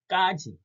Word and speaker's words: 까지: double consonant 상기역, and we have to stress the first syllable 까, not just 가 or 가. We have to say 까지. 까지.